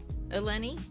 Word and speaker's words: Alani: So, my name is Alani, and it's pronounced Alani.